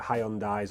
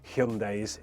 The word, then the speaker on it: Hyundai: might be looking at hyai or Hyundai's is the correct way to pronounce it and you're looking at